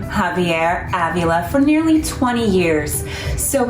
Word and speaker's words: Avila: to say Javier Avila Avila like the a in Avenue Avila Avenue when you think of Avila think of Avenue Avila perfect just like